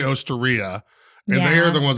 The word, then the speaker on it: Osteria: I think a lot of people say Osteria, but I think that's just, our English wanting to pronounce that E a little different.